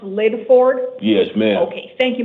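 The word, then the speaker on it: Lydford: L Y D F O R D. It's pronounced Lid Ford.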